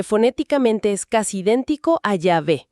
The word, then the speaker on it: Yahvé: Entonces, si Jehová es un error, ¿cómo estamos tan seguros de que la pronunciación correcta es Yahvé?